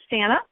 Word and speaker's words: Santa: um pronounced unusually um it is santa rhymes with banana um glad to be